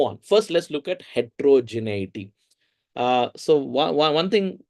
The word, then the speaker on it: heterogeneity: Wait, there is heterogenicity in the study.